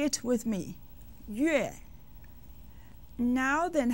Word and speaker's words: 月: 月.